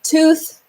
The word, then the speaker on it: tooth: I see two T's in this word, but only one makes the T sound.